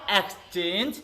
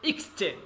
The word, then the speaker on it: exchange: Okay, so according to dictionary we have to pronounce this word. Okay class, so now see everybody, exchange, not exchange, you have to say exchange.